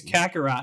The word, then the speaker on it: Kakarot: Dragon Ball Z Kakarot or Kakarot, I hope I'm pronouncing that correctly, will be... It's Kakarot.